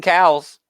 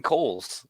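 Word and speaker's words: Cowles: it no way wait how did you say he pronounces his name I don't know cuz I saw a website it's Clayton Coles like there's no way that's right there's no way that's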